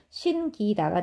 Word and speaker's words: 신기다: 거기에 사동전미사 기가 들어가면서 신기다가 되는데 끼로 발음하지 않는다는 거예요. 신기다. 신기다. 신기다 이렇게 발음을 하는 거고 자 요거 기억하시면 되겠습니다.